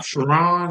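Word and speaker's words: Sherrone: Shiron. Shiron Moore. My Michigan's coach, aren't you? Yeah. This brother, Chiron, Chiron, whatever your name is.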